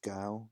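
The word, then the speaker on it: 糕: with nuts between them since the cake and Chinese is pronounced as Gao meaning high people considered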